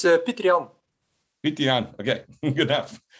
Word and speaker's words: Peter Jan: It's Peter Jan.